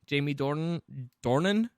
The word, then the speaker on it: Jamie Dornan: This is kind of like a love triangle movie starring Shailene Woodley, Jamie Dornan.